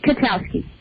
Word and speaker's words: Kwiatkowski: And am I pronouncing your name correctly? It's Kwiatkowski.